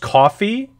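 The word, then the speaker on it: Ko-fi: particular episode of the podcast and oh it's pronounced coffee is it really okay okay coffee coffee so it's coffee got it so if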